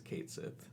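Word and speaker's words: Cait Sith: uh in this game is going to be pronounced as Kate Sith yeah it looks like Kate Sith I'm pretty sure anyone in America who ever played The Originals called the Kate Sith um and I guess some people are mad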